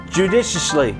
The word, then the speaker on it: judiciously: that's all I'm saying really emphasize that not until the third syllable judiciously judicious if Lee open